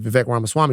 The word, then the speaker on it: Vivek Ramaswamy: Let me pronounce his name, Vivek Ramaswamy, right?